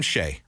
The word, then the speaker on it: Shai: a lot of Ines let's start calling him Shay okay am I say call him shy you are calling him shy that' be the third time you called him shy right there you